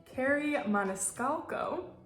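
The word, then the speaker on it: Kerri Maniscalco: of the wicked by I believe it's pronounced Carrie Maniscalco excuse me if I'm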